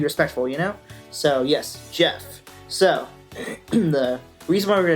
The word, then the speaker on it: Geoff: I thought it was Geoff before, but you guys told me it's actually pronounced Jeff, so that works for me.